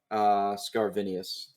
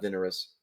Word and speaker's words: Scarvinius: Scarvinius. I've been saying it wrong, actually. It's Vinius, not Vinerus.